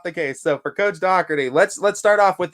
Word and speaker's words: Dougherty: is it silent uh we're going with a c k sound so it's uh doc d um like d-o-c-k as if it were uh so dougherty yeah okay i get